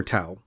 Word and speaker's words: Tao: way is it dower tau uh call into the show let me know if you prefer it pronounced tau or dao i think it's dao but it's spelled with a t so i'm going to